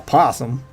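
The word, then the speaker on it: opossum: That's a possum. Fun fact, Eddie. Possum is spelled with an O at the front. The O is silent.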